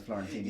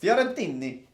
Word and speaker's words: Fiorentini: I put your name down as Florentini. So I think I started it off. And there you learn. In fact, you pronounce perfect. Fiorentini. It helps with the hand. But The not hand helps. in the ini.